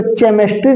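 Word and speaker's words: chemistry: सी डब् आर ज सी के बाद देखो एच आया तो यहां पर एच साइलेंट हो जाता है इसको केमेस्ट्री नहीं पढ़ते क्या पढ़ते केमेस्ट्री पढ़ते है क्या पढ़ते है केमेस्ट्री एच क्या हो गया बाबू साइलेंट हो गया क्या हो गया बच्चों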